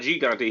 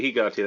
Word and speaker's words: Gigante: Not Gigante, Gigante, that's how it's pronounced in Espanol.